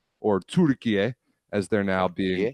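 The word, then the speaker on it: Türkiye: But that's not how the playoff seedings are exactly, because Turkey, or Turkiye, as they're now being pronounced internationally, because they're hosting the finals in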